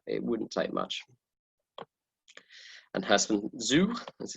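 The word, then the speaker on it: Herstmonceux: And Hurstman Zoo, as it's pronounced, that's in the sea air by 3 o'clock.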